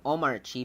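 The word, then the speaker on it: Omarchy: Oh, it's actually Omar Chi because it's an Arch-based distribution.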